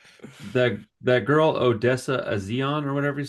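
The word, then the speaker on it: A'zion: But absolutely that that girl Odessa Azion or whatever how you say her name. Zion.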